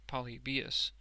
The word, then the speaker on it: Polybius: Hadrian, Trajan, and the Antonines, stumbling at Polybius, pronounced Polybius, and supposed by Mr.